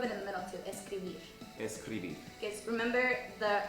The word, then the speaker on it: escribir: Escribir. Escribir. Escribir. Escribir. Remember that R rule? It's a little bit more softer. It's At not the very end.